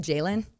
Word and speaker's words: Jalen: Jalen. Oh, okay. I keep saying JLN, but Jalen, I heard his singing and I was like, yo.